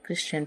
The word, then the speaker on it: christen: Example है जैसे CHRISTEN, क्रिश्चियन। तो इसमें जो है, जैसा कि यहाँ बताया गया है STEN, तो STEN आया हुआ है जिसमें टी साइलेंट होता है और हम लोग इसे क्रिश्चियन पढ़ते हैं।